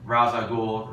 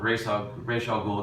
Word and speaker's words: Ra's al Ghul: You really started off with this, but first of all, last season ended with the whole Ra's al Ghul, Ra's al Ghul, depending on how you say it, Demon Head storyline.